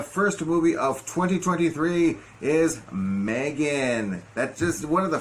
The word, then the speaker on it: M3GAN: movie of this year Megan well if you would if you would want to put a pronunciation to it Meg thrigin you know it's not a third movie or anything like that it's just part